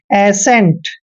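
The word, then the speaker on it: ascent: टी को ट पढ़ेंगे एेंट ऐसे एेंट देखिए इसमें सी का उच्चारण नहीं होता है एेंट क्लियर जैसे नेक्स्ट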